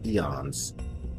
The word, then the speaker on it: Aeon: Well, I call them Aeons. I think it's actually pronounced Eons. That's how the word Eon is actually spelled.